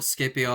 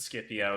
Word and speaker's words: Scipio: I pronounce it Scipio so technically let's all let's settle this right now. Technically the Latin and the Greek every time there is a C it is always pronounced like a K.